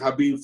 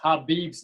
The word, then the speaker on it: Khabib: First of all, a lot of people pronounce Khabib's name Khabib. So if people could start pronouncing his name correctly, would be nice. Because I see in so many interviews and stuff like that, they keep calling Khabib Khabib. It's not a Mediterranean restaurant. The K is silent.